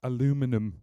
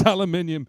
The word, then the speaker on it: aluminium: Premium die-cast aluminum, or aluminium if you're in the UK. If you're in the US, you're saying it wrong. It's aluminium. Don't hate me.